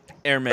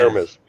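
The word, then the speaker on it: Hermès: you don't pronounce H. Hermes. Hermes.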